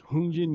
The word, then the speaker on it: Hongjin: His name is Hungin Yi. It's spelled Hongjin.